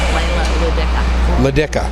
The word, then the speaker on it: Layla Ladika: Number 16 is Layla Ladika, okay. Thank you. Okay, so I had the letters pretty much right. I was just mispronouncing one of the vowels.